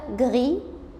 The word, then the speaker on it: gris: اما بقى غري الرمادي بقى غريز تغير نطقها علشان ضفت لها لتر او بعد الاس.